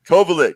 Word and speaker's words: Kovalek: oliver stone uh uh kovalek kovalek that's the right way to say it slovak slovakian last name overlook yeah so anyways